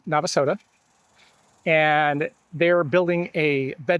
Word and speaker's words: Navasota: And they did point out, one, that it is pronounced Navasota.